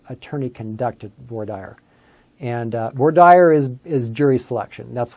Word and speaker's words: voir dire: conducted voir dire and more dire is is jury selection that's what it is it's it's a fancy French or what it does some people pronounce that for dear it's basically jury selection